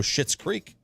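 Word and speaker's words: Schitt's Creek: about the TV show shit's creek yeah that's different though like that's spelled s-c-h-i-t-t I know but the sponge is the sound's the same that's true that's true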